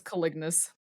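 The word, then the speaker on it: caliginous: Is it colliginous? I've always pronounced it as collignous. Okay. There's an I in there. I There know is that an I in there. I know that stress pattern is correct.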